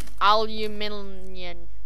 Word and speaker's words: aluminium: Guys, I like saying aluminum. Aluminum is the American way of it. It's easier to say. Oh, I love that. Aluminum. Aluminium. It's aluminium.